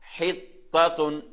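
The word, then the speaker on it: حطة: ரெண்டாவது எழுத்து தா, மூன்றாவது எழுத்து என்ன? தா. அது சாதாரணமா உச்சரிக்கக்கூடிய எழுத்து. இதுல பாத்தீங்கன்னா ஹித்ததுன், துன், அந்த கடைசியில துன், அது சாதாரண தா. தா, தா. ஹித்ததுன், ஹித்ததுன். சரியா? அது மாதிரி தா, தா. என்ன சொல்றது? அந்த எழுத்து ரெண்டும் முதலாவது தா உயர்த்துறது, தா, அடுத்து தா. ஹித்ததுன், துன் சும்மா சாதாரணமா துன், சிம்பிளா சொல்றது ஹித்ததுன்.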